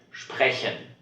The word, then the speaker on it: sprechen: S und P at the beginning of a word. Then this combination is pronounced SCH.